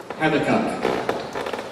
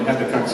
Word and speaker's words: Habakkuk: Nobody really knows, but since I can remember, I've heard people say Habakkuk, so I'm not going to try and change now to Habakkuk.